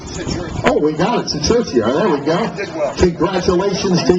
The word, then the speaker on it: Sikerchia: Their last name is pronounced... Oh, we got it. Sikerchia.